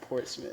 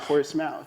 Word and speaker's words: Portsmouth: but you're from from Portsmith right yeah I'm from Portsmith all right see that's how you pronounce it Port Smith Portsmith not Portsmouth nobody said that man